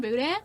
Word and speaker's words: boudin: You pronounce the N in Boudin You're not supposed to.